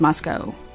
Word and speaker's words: Moscow: guys know how to say it right it's Moscow the big thing that I have an issue